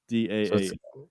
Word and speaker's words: Dahl: All I typed in was how to PRON, and it autofilled pronounce Roald Dahl. So it's row, and then it says UHLD. So Roald Dahl. DAA.